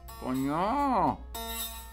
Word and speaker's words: coño: Coño. Accent on the last syllable.